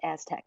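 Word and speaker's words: ASTC: science hyphen Technology Centers the acronym is ASC it's pronounced Aztec so that's the that's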